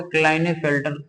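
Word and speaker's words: Klinefelter: ठीक, पहला सिंड्रोम है जिसका नाम है क्लाइन के, साइलेंट भी रहता है, आप पढ़े ना पढ़े वहां पर क्लाइने फेल्टर, लाइन फिल्टर बोलने में बनता भी नहीं, तो क्लाइने फेल्टर सिंड्रोम।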